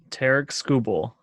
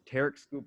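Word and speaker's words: Tarik Skubal: And then you have I always mispronounce his name. How do you say it? Tarek Skubal. Tarek Skubal.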